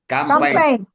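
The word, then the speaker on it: campaign: very good அருமையா சொன்னாங்க L silent கேம்பைன் கேம்பைன் கேம்பென் ஐ silent sir நல்ல ஜிஜி சைலன்ட் ஜி உச்சரிக்க மாட்டறோம் பாருங்க கேம்பென்யே சொல்றோம் பாருங்க ஜிய தூக்கிடுங்க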